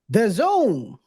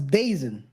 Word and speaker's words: DAZN: end I don't know people pronounce it very differently before I knew how it was that that was the Zone because it's written the D e a z n I thought it was dazen I don't know I'm